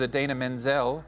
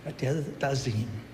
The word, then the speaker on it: Idina Menzel: Please welcome the wickedly talented one and only Adele Dazeem.